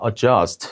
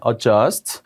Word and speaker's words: adjust: is 여기라고 적혀 있죠 하지만 발음이 나지 않습니다 adjust adjust 그래서 adjust her eyeglasses